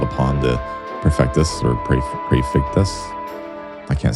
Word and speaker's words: Prefectus: Prefectus. Prefectus Zazarg reporting. Zazarg, what is the meaning of this intrusion? My apologies. As the head of the 4th Division, it was I who was called upon to Prefectus or Prefectus.